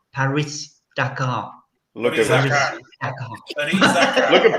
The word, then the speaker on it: Paris-Dakar: You need that pronunciation. Paris-Dakar. Paris-Dakar.